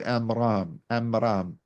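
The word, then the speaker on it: Amram: in Bible is called am amam a m r a m this apparently pronunciation is close to Imran so from very early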